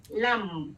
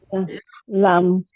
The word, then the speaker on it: lam: It's lum. It's actually lum, and you can chant it lum, lum. Lam.